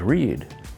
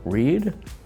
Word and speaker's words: read: The verb is read and the three parts are read, read, read. Notice the spelling stays the same but the pronunciation is different.